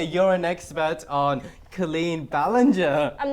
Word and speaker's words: Ballinger: know the last name Ballinger Ballinger yeah worse than a gia cards down because I've been pronouncing a balangay English is weird language